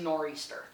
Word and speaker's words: nor'easter: of the northeast or if you want to say it like you're living up in the northeast it's a nor'easter these things because they